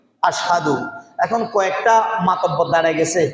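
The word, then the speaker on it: أشهد: উচ্চারণ করতে পারতো না শব্দটা হবে আশহাদু বেলাল বলতো আসাদু বেলাল কি বলতো আসাদু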